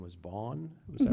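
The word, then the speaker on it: Vaughn: in excuse me initially said your name was Von was that right and how do you spell that just for the sake of the record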